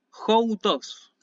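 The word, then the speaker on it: οὗτος: Y después, joutos. Esto sí se lee joutos con espíritu áspero, por eso pronuncio con la aspiración al inicio.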